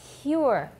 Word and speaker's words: pure: After P, between the P and the U sound, what do we have? We have a Y sound, right? And the P is voiceless. So we say pure.